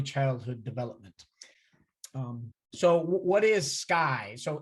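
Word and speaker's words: SCCEI: development so what is sky so s c c e i lots of lots of us we pronounce it sky for short um we're stanford's home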